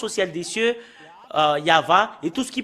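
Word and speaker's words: יהוה: C'est le livre de Torah qui stipule bien que c'est Yahva qu'on le prononce, et c'est avec cela qu'on le prononce au ciel des cieux, Yahva.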